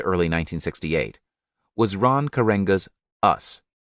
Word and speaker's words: Us: 1968 was Ron karenga's us pronounced us as in not them karenga's group sought to